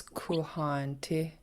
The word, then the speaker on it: Kuhaantí: So we're not pronouncing one of the A's. We're pronouncing it like this, kuhanti. This is the double A is a long A, so Okay.